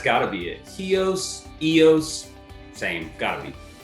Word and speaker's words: Ios: wanted to go this island called eos eos is spelled ios and it's right next